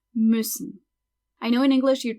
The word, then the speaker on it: müssen: That U with the dots is another umlaut and is pronounced Ü. Ü, müssen.